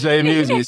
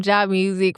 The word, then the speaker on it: Jaimusiq: He just How do you pronounce? It's J Music.